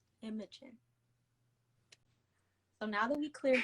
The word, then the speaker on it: Imogen: But if for some reason you never watched Degrassi season 11, nor did you take a phonics class, the way that you say my name is Imogen. Imogen.